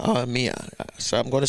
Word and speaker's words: Mia: So I'm going to say, I know it's not Maya. Oh, Mia. They say Mia. Because some people pronounce this as Maya too as well. So it's Mia Motley. Mia Motley, yeah. Because I know a young lady, her name spelled the same way, and they call her Maya. They spell it with a M-I-A and not a M-Y-A. So they call her Maya. So it's Mia for her, right?